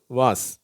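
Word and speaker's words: vase: lace race பேஸ் கேஸ் இது மட்டும் வித்தியாசப்படும் இது வாஸ் இந்த பிளவர் வாஸ் சொல்றோம் இல்லையா அதுதான் அடுத்தது இந்த வார்த்தைகள்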